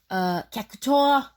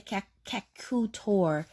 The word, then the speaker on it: Cactuar: Cactuar. Cactuar. I don't know why I want to say Cacutor. I don't know why I want to pronounce his name that way, but I've always loved him.